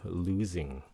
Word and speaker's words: losing: Nếu muốn sành điệu thì các bạn phát âm Z, losing. Okay? Nếu mà không cần sành điệu, miễn sao có âm xì thay, losing cũng được nữa, losing.